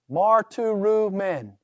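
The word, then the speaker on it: μαρτυροῦμεν: and pronounce it correctly notice the next one marto rumen mar to room men all right I did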